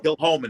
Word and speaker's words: Kilchoman: Kilchoman, it's actually pronounced.